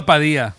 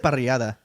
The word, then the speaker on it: parrillada: That's called a padilla, or what is it? What do they call them? The fucking the fajitas like all mixed together. A parrillada. Oh, yeah. Parrilla. Parrilla? How do you say I it? said parrillada. Parrillada. There it is.